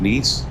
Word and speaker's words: Nice: I think it's pronounced knees. If that is India, we would have pronounced it as nice.